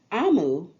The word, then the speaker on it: Omu: Note to reader, Amu, pronounced Amu, is the Igbo term for queen.